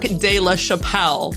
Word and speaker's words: de la Chapelle: have an awesome guest with me today de la chapelle did i pronounce it correctly all right i did it